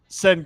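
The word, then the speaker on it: Şengün: him cam Whit rookie from vova Jaylen green senen senen is how you pronounce it senon senon I think it is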